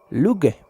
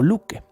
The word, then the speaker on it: Loki: verdadero de lo que se escribe lo que pero se pronuncia luque o luque por lo que es